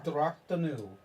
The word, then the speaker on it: Drok-Tinu: The Temple of Oh, wait, no, this should be Drok-Tinu. spelled. How do you spell that out?